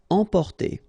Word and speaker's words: emporter: Emporter, okay, same thing here for the nasal, emporter.